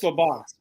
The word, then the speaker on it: Labus: I just looked up in the media guide the pronunciation because they always tell you it is Labus. Okay. Labus. It's LaBoss. Thank you.